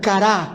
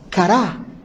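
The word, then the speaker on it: קָרָא: palabra hebrea para pregonar se pronuncia cara con cu y acento en la última última a cara y significa aclamar a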